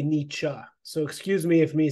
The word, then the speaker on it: Nietzsche: No, that's just Well, that's funny because the the German pronunciation, any word that has an e at the end is an uh.